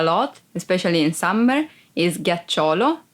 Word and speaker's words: ghiaccio: Ghiaccio, ice. Ghiaccio, ice. Be careful because if you don't pronounce G as a hard sound like G, it would be ghiaccio, that it's a verb and means lie down.